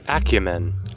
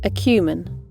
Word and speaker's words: acumen: Or you can say Acumen. Acumen. Please bear in mind that the differences between the first way to pronounce and the second way to pronounce lies in the first two syllables, ækjəmən and ækju.